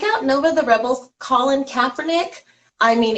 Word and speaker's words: Kaepernick: How do we pronounce his name? Kaepernick.